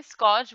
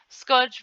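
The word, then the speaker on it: scourge: इसको यहाँ पे आर जो है साइलेंट रहता है, वैसे स्कॉच बोलते हैं इसको, स्कर्च बोलते हैं।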